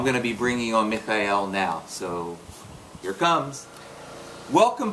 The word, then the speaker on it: Mikhail: I should tell that you're the only one who pronounced my name correctly right everybody else calls you Michael I I know it should be M I have Russian background so I feel a